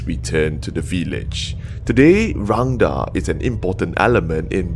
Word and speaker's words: Rangda: I called to tell you that you're pronouncing it wrong. It's not rendang. I didn't say rendang. I said Rangda.